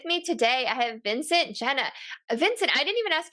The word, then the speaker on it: Genna: All right, so with me today, I have Vincent Genna. Vincent, I didn't even ask you how to pronounce your name. Is it Genna or Genna? No, Genna, you said it right the first way, so that was very intuitive of you.